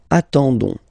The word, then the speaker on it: attendons: classic ending for nous, so O-N-S, okay, you don't pronounce the S, so you get only this on sound, okay, attendons, nous attendons, so we'll